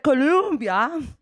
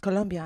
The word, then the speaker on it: Colombia: You said Columbia, and that's a university in the United States. I am from the country of Colombia, also in America. It's pronounced Colombia, and they're like, yeah, kein Problem.